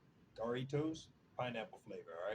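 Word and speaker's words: Jarritos: Uh man, Jaritos. I know I ain't saying it right. I believe in Spanish they don't the J's ain't pronounced J's. It's like Daritoss pineapple flavor.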